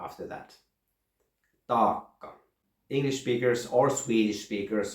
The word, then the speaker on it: taakka: It's pronounced like my last name, Paakkanen. You have a long A, then you have a long K, and then you have a short A after that. Taakka.